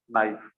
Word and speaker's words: knife: Okay, sometimes K is silent, knife, kano. It's not kano, it's no.